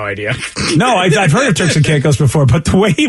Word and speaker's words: Turks and Caicos: Oh, and it's apparently pronounced Turks and Caicos. Oh, Turks and Caicos.